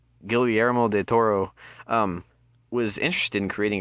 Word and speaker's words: Guillermo del Toro: director of pacific rim gilliam moore did the tour am i pronouncing that right go guillermo del toro um was interested in